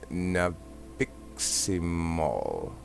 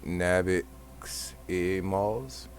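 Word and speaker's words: nabiximols: an active ingredient in nabiximol and i didn't pronounce that right nabix e malls a specific specific extract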